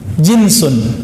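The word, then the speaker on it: جنس: Jinsun, jins. Pakai jeans nggak Pak? Itu beda lagi ya. Jeans itu bacanya ya. Kalau ini jinsun, jim nun sin.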